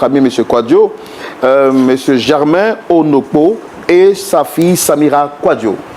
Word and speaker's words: Onokpo: Je pense que juste à côté, c'est votre père, monsieur Germain Onokpo. Shalom. Vous allez bien? Oui, J'ai bien prononcé votre nom?